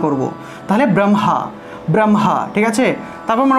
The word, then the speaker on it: ব্রহ্মা: এই যে ব্রহ্মা শব্দটা, এই ক্ষেত্রে এভাবে উচ্চারিত হয়, ঠিক আছে? ব্রহ্মা, তো এটার উচ্চারণ এভাবে হবে ব্রহ্মা, ব্রহ্মা, ব্রহ্মা, ঠিক আছে? ব্রহ্মা, এটার যুক্তবর্ণ হলো হ যুগ ম, ঠিক আছে? ব্রহ্মা উচ্চারণ করব, মটা আগে আসবে, কারণ ম হলো একটি স্পর্শবর্ণ, আর স্পর্শবর্ণ বর্ণগুলোর উচ্চারণ আগে করতে হয়, ঠিক আছে, স্পর্শ বর্ণগুলোর উচ্চারণ আগে করতে হয়।